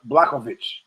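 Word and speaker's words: Błachowicz: It's about Alexander Gustafsson and Jan Blachowicz. Actually, we're gonna get some help on this pronunciation right here.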